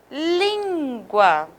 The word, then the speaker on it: língua: Olha só, língua. Tá vendo que eu tenho o lim um pouco mais forte do que guá?